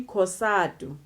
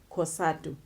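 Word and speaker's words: COSATU: African trade unions the acronyms thereof will be casado casado is a new way that is derived from the weights Congress of South African Union's but when we pronounce it whisper we pronounce it as one weight casado that goes the same to the width University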